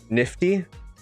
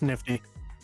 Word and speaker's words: NFT: Nifty, like GIF. It's pronounced nifty.